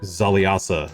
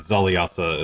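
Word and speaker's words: Xaliasa: know where the traitor zaliasa dwelt and where perhaps he hit his key to runeforge and zaliyasa is spelled uh x-a-l-i-a-s-a i had it right except for the first letter damn it nice i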